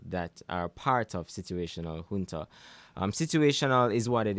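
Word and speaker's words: junta: pronounce it it's situational j u n t a hun mean it's a Spanish word so you know you'll say hun opposed to Jun okay and what does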